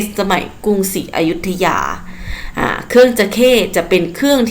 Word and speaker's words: จะเข้: จะ ใข้ จะเข้ เดี๋ยว เรา จะ ไม่ ออก เสียง ว่า จระเข้ นะ คะ จระเข้ จะ เป็น สา ถูก ไหม คะ อ่ะ ถ้า เป็น เครื่อง ดนตรี เรา จะ ออก เสียง ว่า จะ ใข้ จะเข้ คือ จะ ที่ จะ